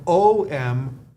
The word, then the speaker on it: om: the sound om now it's either pronounced a u umu M or om om depends on what region of the world that you're in this is called the